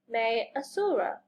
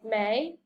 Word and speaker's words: Maiasaura: Maiasaura. Say Maiasaura.